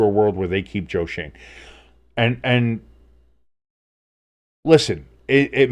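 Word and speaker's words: Joe Schoen: it's it looks like it it should be pronounced Shen but it's but it's pronounced Joe Shane uh but like that should be switched around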